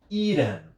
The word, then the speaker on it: eaten: ele fica assim, ó, eaten. Eaten. E aí eu posso pegar esse T e pronunciar ele com som de R.